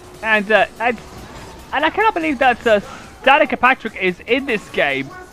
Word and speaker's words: Danica: It's Danica, not Danica.